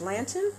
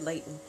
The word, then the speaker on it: Lanton: It's Lanton? Mm-hmm. It's Lanton, Lanton. What did I say? I think I said Layton.